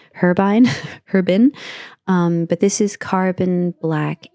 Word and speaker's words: Herbin: Now, the person in Cinedia recommended this, and I did tell him that I usually use Herbin, I believe is the French pronunciation, Herbin.